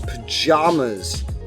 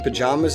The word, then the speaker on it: pajamas: In Midwestern states and Western states, you'll find the A in pajamas is pronounced like jam. So pajamas. But spend time in any southern or eastern state and you'll hear A as in father.